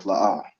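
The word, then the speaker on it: לא: So the 2 characters we have are La and Ah, and they're both pronounced separately. So you put the arch underneath each letter to make La'ah.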